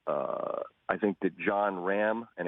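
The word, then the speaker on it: Jon Rahm: I think that John RAM and it's apparently Ram not Rah we've been saying his name wrong all this time this young Spaniard who's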